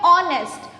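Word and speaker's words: honest: तो एच हमारा वॉवल नहीं है, बट जब हम इसे प्रोनाउंस करते हैं तो हम क्या बोलते हैं? ऑनेस्ट, ऑनेस्ट बोलते हैं, ऑनेस्ट। तो ऑनेस्ट में किसका साउंड आ रहा है?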